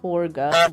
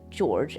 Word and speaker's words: Jorge: um so but yes some people wanted to be pronounced as george which is kind of strange because it is a spanish name you know it's